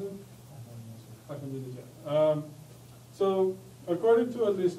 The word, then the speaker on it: Ahmadinejad: How do I pronounce it? Ahmadinejad.